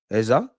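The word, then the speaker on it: Eze: It's pronounced Ezu Eza. Listen, my Nigerians, my flyerians, forgive me. I'm going to do the EZA thing. Like, it's ESA to me.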